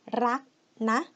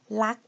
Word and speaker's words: รักนะ: But as you can see that normally Thai people, we don't like to pronounce the word rrr like that, you know, ra rrr. We don't like the sound. It doesn't sound very natural for us. So we tend to say lak. We pronounce it that L, rak na, like this, more, and it sounds more natural as well.